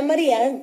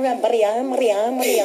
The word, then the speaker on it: Maria: Anna Maria Brown. Oh, she likes to roll the R. Maria.